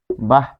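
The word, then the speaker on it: বাঃ: তারপর এরকম বলি বাহ।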